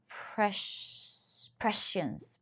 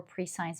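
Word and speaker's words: prescience: Precience. Precience. Yeah, precience. Uh yeah, because I read it before pre-science and you guys told me what it's all about.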